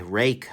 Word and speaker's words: Ruike: guy apart we're Waikiki rake I guess is how they want to be pronounced is is a weird